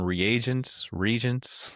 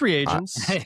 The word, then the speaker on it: reagents: What's the jury on regents? It's reagents, but it's I don't know. regs How is do you pronounce short. it? And I've always Yeah. said regions.